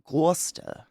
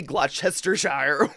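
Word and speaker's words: Gloucestershire: literally look it up glester Shire but you pronounce it GLA that's how my family says GLA you don't say glester Shire whatever the oh man I'm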